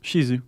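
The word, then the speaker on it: Shih Tzu: Chihuahua, uh, poodles, pugs, and how do you pronounce it? I always said Shihzu. Is it Shiu? Shisu.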